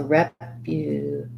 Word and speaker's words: reputation: reputation so reputation um this has the stress on the tay syllable that has the a diphthong so you're gonna i would build from that t reputation these first two uns stressed syllables reputation have a little secondary stress on the rep because it has the clear f vowel rep and then um rep u this letter u has a glide and the u sound so